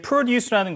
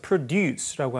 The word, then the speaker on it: produce: 근데 produce라는 것은 이제 셀 수 없는 명사입니다. 이름절의 강세가 가면 이렇게 농산물이라는 명사예요. 이음절의 강세 가서 produce라고 하면 생산하다라고 여러분들 잘 알고 계신 이제 동사죠.